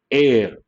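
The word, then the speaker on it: heir: say a hair no air and based on that because the letter h is silent we have to say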